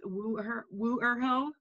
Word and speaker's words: Wuerho: Tyrannosaurus says it's Wuerho. Because it's Chinese.